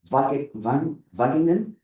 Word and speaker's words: Wageningen: Yun, I'm going to pronounce it very wrongly, so Dwayne, the University of Wageningen?